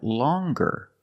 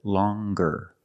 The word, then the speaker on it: longer: nasal sound long but then you have longer where we have the hard G sound longer with a nasal sound plus the hard G longer and we have the